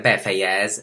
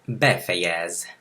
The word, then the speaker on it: befejez: No se olviden que la E no es la E del español. Lo repito en todos los videos. No es befejez, es befejez. Befejez. El acento en la primera.